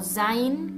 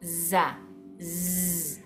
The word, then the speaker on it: ز: urdu al árabe pero la forma correcta de pronunciarlo en lo que es el árabe clásico es Z o Za tiene ese zumbido de la abeja o después tenemos sin